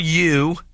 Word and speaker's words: yew: It says you would think after thousands of years on Earth, the Fortingall yew. Y-E-W. How are you pronouncing that? It's Jew with a Y. Okay. U. Y as in Friday.